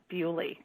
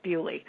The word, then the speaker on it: Beaulieu: i don't think any of them were at bully and that's actually the way it's pronounced i talked to a british guy who was like no you're pronouncing it wrong it's bewley um the beaulieu estate was where um some